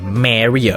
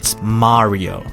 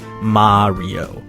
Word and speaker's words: Mario: "paayyng" hay là "pehng" giống lúc người đọc là Merio, hông nha. Là Mario, Okay. MAH-REE-YO. MAH Pah Pang Pang-a Kee-Ban.